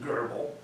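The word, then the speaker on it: GRBL: program I use is called laser Geral or some pronounce it gerbal uh and it's good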